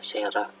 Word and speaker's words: Cera: Kemudian C dibaca S jika diikuti huruf E, I, Y, ya. Cera cara bacanya sera.